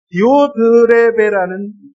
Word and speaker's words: 디오드레베: 디오드레베라는 발음도 하기 힘들어.